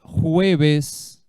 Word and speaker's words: jueves: Mañana vai ser jueves. Lembra da pronúncia do J? Jueves.